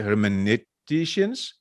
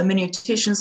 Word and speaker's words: hermeneuticians: Her field of interest includes post-Christian philosophy, in particular the hermeneuticians of suspicion. Did I pronounce that correctly, Louise? Absolutely, the hermeneuticians of suspicion, our good friends, Karl Marx, Friedrich Nietzsche, Charles Darwin, and whom am I leaving out?